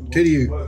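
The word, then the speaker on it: Tidioute: How you say it? Tidiu. That's an Iroquois word, and that's a city up in northern Pennsylvania.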